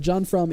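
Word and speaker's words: Jon Frum: So it's John from Fru M is how you spell it. But John from is it's so cool.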